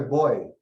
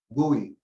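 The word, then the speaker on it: buoy: symbol of a of a boy or if you want it in british pronunciation gui so it's represented by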